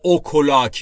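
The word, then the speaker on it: o'clock: دقیقاً ساعت یکه دوستان در مورد تلفظ اوکلاک دقت بکنید نگفتم اوکلاک یا اوکلاک یا هر چیز دیگری اوک لاک به هم چسبیده میشه و به این صورت تلفظ میشه اوکلاک ا وان اکلاک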